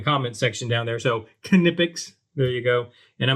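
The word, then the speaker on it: Knipex: Nippers and yes, it is pronounced Kipics. Uh I for the life of me always thought it was Nippics until I heard actually a person that works for the company and they said Kipics.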